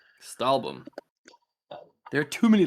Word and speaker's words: Stahlbaum: Stahlbaum? Stahlbaum.